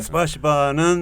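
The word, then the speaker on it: спасибо: 스파시바는 네. 원래는 조금 더 세요 발음이. 네. 스파시바 이렇게 예.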